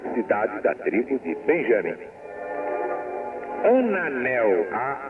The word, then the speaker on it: Ananel: Ananel. A N A N E L. Ananel. Ananel. ou ananel, como dizemos nós, que muita gente quer que o L seja pronunciado a moda castelhana, Brasil nacional, mas só o gaúcho consegue dizer isso.